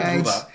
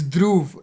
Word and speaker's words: Dhruv: Dhruv, sorry, it's spelled Dhruva. It's Dhruv. Like, I'm just so tired of correcting people. It's not Dhruva, but Dhruv.